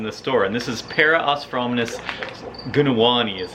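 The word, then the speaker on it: Parosphromenus gunawani: had these in the store and this is para osfromis gunawani is how you say that and they're from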